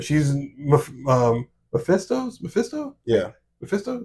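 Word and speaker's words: Mephisto: um Mesto Mesto yeah Mesto is how you say it that's his number two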